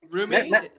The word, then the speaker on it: Rumi: Rumi.